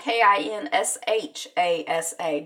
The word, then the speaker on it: Kinshasa: Kinshasa, it's spelled Kinshasa, but it's pronounced Kinshasa.